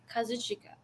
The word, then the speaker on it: Kazuchika: The name you sent is Kazuchika Okada. Say his first name again. Kazuchika. Like that's how it's spelled. Kazuchika. Yeah. Like say it like if you were in Japan. Kazuchika.